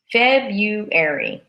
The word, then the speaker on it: February: in February right now in February we say febuary but when we write